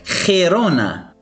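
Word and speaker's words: Girona: مثال آخر وهو مدينة خيرونا خيرونا. كما تلاحظون هنا خ أتى قبل الحرف إي الفوكال إي ويقرأ خي خيرونا.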